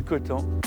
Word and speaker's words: Coutances: À Coton, prononce pas le Coton, on prononce pas le S.